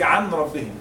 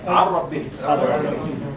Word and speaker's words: عن ربهم: I didn't say عن ربهم. I say عربهم.